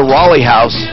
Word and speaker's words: Raleigh House: to you by the Rolly house an addiction treatment center multiple locations in the Denver area it's spelled like Raleigh North Carolina if you're looking for